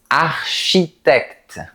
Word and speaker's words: architecte: Et ces 2 lettres, tu sais les prononcer? On dit architecte ou architecte? Bon, on dit architecte.